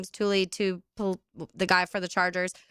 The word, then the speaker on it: Tuipulotu: Tuipulotu.